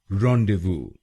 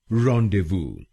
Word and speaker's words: Rendezvous: इसकी सही प्रोनाउंसिएशन है रॉन्डेवू। रॉन्डेवू। इस शब्द में 3 शब्दांश हैं। पहला शब्दांश है REN, दूसरा शब्दांश है DEZ और तीसरा शब्दांश है VOUS।